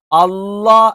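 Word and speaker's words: الله: അവിടെ ഒരു കാര്യം വിട്ടുപോയിട്ടുണ്ടായിരുന്നു അള്ളാ എന്ന് പറയുന്നത് ഓക്കേ അള്ളാ എന്ന് പറയുന്നത് ഈ പറയുന്ന ഒരു ഉച്ചാരണവും അല്ല മറിച്ച് ലാമിന്റെ അതേ മഹ്റജആണ് പക്ഷേ ലാമിൽ ഈ ജലാലിയത്തിന് ഇസ്മ് പറയുന്ന സമയത്ത് നാവിന്റെ മധ്യഭാഗം മുകളിലേക്ക് ഉയരും അളളാ അളളാ അള്ളാ അത്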